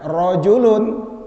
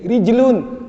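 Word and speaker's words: رجل: di domain ini tulisannya kalau salah baca Bahaya kalau bacanya rojulun laki-laki dewasa kalau roknya dikasroh kemudian gimnya disukunkan jadi rijalun artinya ha kaki gitu jadi Roro kemudian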